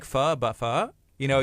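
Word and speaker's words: phở: And she said, you say it with like, it's like pho, but pho. You know, you say it like a question.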